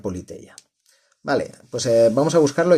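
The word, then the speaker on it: Πολιτεία: Que aquí pues bueno, en griego digamos, se pronuncia Politeia.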